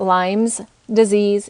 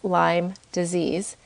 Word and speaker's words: Lyme disease: it's spelled L-Y-M-E, and it's not Lyme's disease, it's Lyme disease.